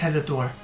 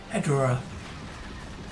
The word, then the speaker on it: Ghidorah: I think it's Ghidorah, that's how you say it. Ghidorah.